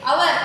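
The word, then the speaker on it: hour: Our, h is silent.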